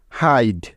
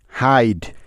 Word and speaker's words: hide: আই বর্ণটার উচ্চারণ আই এর মতো হওয়ার জন্যই শেষে ইকে নিতে হবে। তাহলে ডি ইতে হয়ে গেল ড। ব্যাস, এই হলো হাইড। HIDE, হাইড।